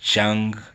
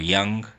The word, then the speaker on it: Jung: It's either pronounced Chung or Young.